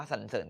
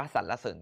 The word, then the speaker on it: สรรเสริญ: นี้ อ่าน ว่า สรรเสริญ จริง ๆ อ่าน ได้ 2 แบบ อ่าน ว่า สรรเสริญ ก็ ได้ หรือ ว่า อ่าน ว่า สรรเสริญ ก็ ได้ นะ ครับ